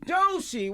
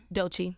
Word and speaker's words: Doechii: Doechii, welcome. Hi. How you doing? I'm doing good. Did he pronounce that right? Doechii.